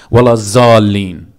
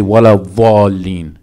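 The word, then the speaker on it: ولا الضالين: Wala zalin. Wala zalin is incorrect. It's wala va. There's a letter called vad. It's not a z. Z is a different letter.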